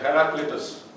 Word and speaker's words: Heraclitus: Let me just pronounce it correctly, Mr. Heraclitus.